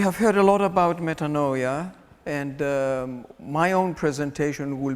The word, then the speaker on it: metanoia: the Greek, being Greek, I will be using the Greek pronunciation metanoia rather than metanoia.